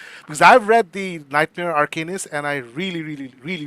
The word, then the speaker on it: Arcanist: Arcanist, you got it right.